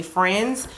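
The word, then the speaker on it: Frends: made by the company friends it's spelled f r n DS like friends without the I um yeah but I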